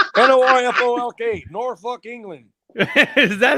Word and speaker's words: Norfolk: at 11 o'clock say that word again yeah norfolk n-o-r-f-o-l-k norfolk england is that how they really pronounce it yeah so i get there at